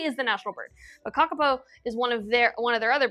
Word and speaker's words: Kakapo: It's Maori, so it's like Kakapo.